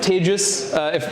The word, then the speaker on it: Tejas: I'm Tejas. That's hard to pronounce, so think of contagious. That's how you say it.